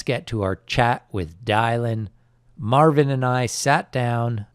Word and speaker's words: Dylan: So now that we know that your name is Dylan and it rhymes with Kylin, so where did you get the name Kylin?